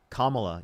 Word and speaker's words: Kamala: How do you pronounce her name? All right, then I'll say it right. Kamla, you can just also say uh VP Harris.